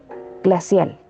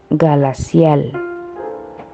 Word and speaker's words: glacial: Lo más probable que un niño pequeño diga galacial. ¿Qué? Galacial. Tenemos que pasar rápidamente la lengua hacia adelante para pronunciar la L.